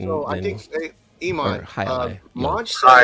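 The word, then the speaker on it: jai alai: It is a world sport that I don't know if they pronounce it Jai-alai or Jai-alai, but it's spelled Jailai. I don't think you pronounce the J.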